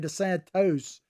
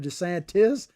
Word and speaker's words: DeSantis: talking about ron desantis i kept saying to santos instead of desantis and i had a